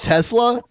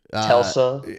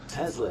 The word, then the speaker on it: Tesla: Is that what he calls Tesla? Yeah. I mean, it's someone's name. Telsa. And it was not pronounced Telsa.